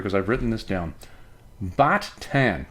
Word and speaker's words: Baht Tan: Baht Tan. There you go. B A H T Tan, not B H A T, the Thai currency.